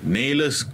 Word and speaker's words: Naylors: Okey, selamat datang, selamat kembali kepada Promosi at My Suara bersama Naylors Coleslaw. Did I pronounce it right? Absolutely. Naylors, okay.